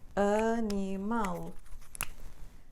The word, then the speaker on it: animal: algumas Estações dessas regras se a palavra acaba com estas letras aqui a l e l z e o r o acento vai recair sempre na última sílaba então não